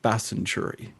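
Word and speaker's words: Bastanchury: named, by the locals, we call it Bassenturi. and it has a silent T in it.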